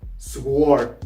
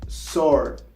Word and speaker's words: sword: It's not pronounced sword. No, it's not sword. You pronounce it sword. The W is not pronounced, so you pronounce it sword.